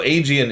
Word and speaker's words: Aegean: Now, Aegean is correct. I keep getting screwed up because Aegis is how you pronounce the shield, and Aegean is how you pronounce the sea.